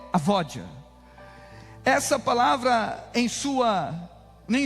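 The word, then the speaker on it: עבודה: O significado da palavra adoração no hebraico é avodar. o sua pronúncia no hebraico, no original, é a vódia.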